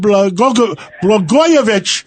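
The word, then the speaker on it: Blagojevich: I mean, I I I we talked to the former governor, Rod Bgoyovich. See, I said it right.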